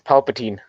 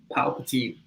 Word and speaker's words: Palpatine: And dude, it's Palpatine. That I corrected myself. I said Palpatine. I pronounced it.